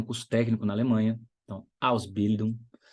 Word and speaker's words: Ausbildung: técnico na Alemanha, então, Ausbildung, Ausbildung, sílaba tônica é a primeira.